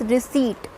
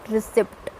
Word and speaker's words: receipt: Pronounce the word is, इट्स रिसीट, नॉट रिसिप्ट, इट इज़ रिसीट। Please show me द रिसीट, not please show me द रिसिप्ट, this is wrong pronunciation, you have to pronounce it एज रिसीट।